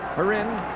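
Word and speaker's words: Kharin: Sergei Heron, to say the K is silent.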